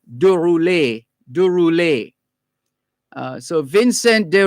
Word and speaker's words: de Roulet: vanson and his surname d-e-r-o-u-l-e-t would actually be pronounced de rouley de rouley de roulet so vincent de roulet was declared persona non-grata this is u.s ambassador to jamaica 1973.